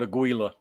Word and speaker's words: Aguila: From what I've been corrected on and what I've actually looked up, it's supposed to be Aguila. Aguila. Like the emphasis is on the first, the Aguila. I've got a habit of saying Aguila. I emphasize the gi, but it should be Aguila.